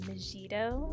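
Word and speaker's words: Megido: freaking break something Aradia I always pronounced it mejito with like a soft G um I think most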